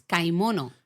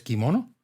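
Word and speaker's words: 買い物: pues la palabra es kaimono kaimono no es como leería un inglés kimono kaimono kaimono no kaimono De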